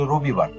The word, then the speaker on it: রোববার: হয় অর্থাৎ এখানে খেয়াল করো আগের শব্দটি ছিল রবিবার এখানে এখানে র এর সাথে একটা অ ছিল। অ এর পর রস্বীকার ছিল। এজন্য উচ্চারণটা হতো রবিবার।